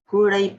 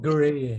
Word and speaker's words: Guray: Gulay po. Gulay. Like gulay with R. Pwede naman Gray eh. Gray. Parang gray. Silent U.